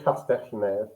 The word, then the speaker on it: Castell: Before we go, though, it's how do I pronounce Castel? So it's Castech.